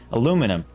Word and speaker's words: aluminum: Aluminium. Why did I say it like a British person? Aluminum.